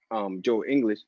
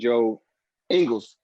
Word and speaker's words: Joe Ingles: it's Bogdanovich or it's Joe English. I said his name wrong. It's Joe Ingles.